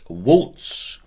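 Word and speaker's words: vult: You want wis, remembering we're pronouncing the V as a W if we can. He, she, it wants waltz.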